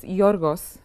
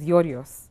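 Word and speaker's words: Γιώργος: Okay, it's Yorgos. Oh, God. Actually, the official version is Yorios.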